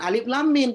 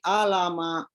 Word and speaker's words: Alif Lam Mim: Nggak bisa baca, bacanya alama. Bukan alif lam mim, tapi alama.